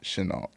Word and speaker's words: Chenault: Chenault? Is that how you say it? I pronounce it Chenault.